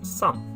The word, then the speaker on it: 三: It doesn't really matter too much, but 3 is pronounced as san.